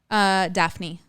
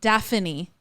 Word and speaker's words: Daphne: Daphne. But not Daphne.